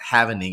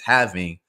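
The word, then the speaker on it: halving: it it's the having so I'm sorry not havening it's having correct pronunciation but the Bitcoin having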